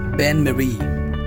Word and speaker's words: bain-marie: So this is pronounced as Bain-Marie.